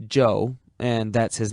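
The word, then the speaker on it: Chou: Joe is amazingly Cooperative Joe spell it c h o u if you want to be exotic it still pronounced Joe and that's his name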